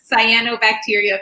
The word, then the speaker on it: cyanobacteria: deal with those and did i pronounce cyanobacteria correctly you're spot on so so uh